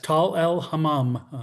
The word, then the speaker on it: Tall el-Hammam: was when I heard about this site at Tel el-Hammam. Is that the way to pronounce it? Yes, Tal el-Hammam.